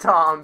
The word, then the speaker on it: Thom: His name is pronounced Tom, babe.